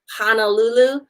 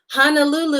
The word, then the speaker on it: Honolulu: like you hear people saying like Honolulu right Honolulu Honolulu is not spelled h8n a lu lu which is how you would pronounce Hana nu nu it's pronounced kornel Lulu